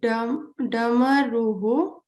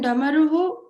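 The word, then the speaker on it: डमरुः: So, there is a visarga at the end, you have to pronounce it. Like in Damaruhu. So in Damaruhu, a lot of people did not put the visarga, just saying Damaru. So you have to pronounce the visarga.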